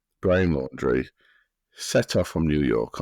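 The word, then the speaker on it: Laundrie: 23y old fiance Brian laundry is how you pronounce it laundry laundry Brian laundry set off from New York on a four-month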